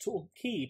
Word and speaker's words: Torquay: How come it's pronounced Torquay, but it's spelled Torquay?